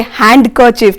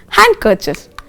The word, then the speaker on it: handkerchief: Now, D is not pronounced in the following common words children. For example, handkerchief. So, many of us say handkerchief. No, it's not like that. It's you should say handkerchief.